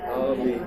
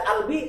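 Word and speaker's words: قلبي: Tulisannya qalbi. Tulisannya qalbi, bacanya qalbi. Kalau bacakan qalbi baca albi, salah enggak? Salah, itu bahasa bukan bahasa bebas.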